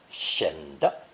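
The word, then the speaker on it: 显得: The most common expression with this character is 显的, with unstressed 的, meaning to appear, seem, or look.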